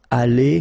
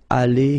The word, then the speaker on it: allée: Okay, but then phonetically it doesn't exist. All right, so it's aller here and then aller here, the way you pronounce it.